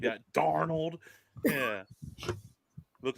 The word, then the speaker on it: Darnold: say it like that, Darnold.